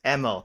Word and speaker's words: Imel: how to pronounce your name and I completely pronounced it the other way so it's EML not ml there go EML yeah yeah my bad I went autopilot mode